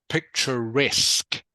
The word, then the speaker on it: picturesque: s beautiful and lovely good okay so the pronunciation is actually picturesque picturesque can you say that please bowling um